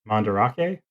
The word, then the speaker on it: Mandarake: But one of the larger chains is a company called, I think it's pronounced Mandarake, and they have a few different shops in this Nakano Broadway, each focusing on different aspects of kind of nerd culture.